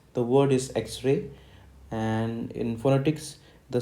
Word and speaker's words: X-ray: the phone in phonetics the letter X is spoken as x-ray x-ray x-ray okay now let us